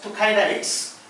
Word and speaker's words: Thucydides: Now, the first observation was made by it is pronounced Thucydides.